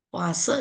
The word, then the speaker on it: poise: Satuannya poise, desipoise, poase, ya bacanya poase, desipoase dan setipoase.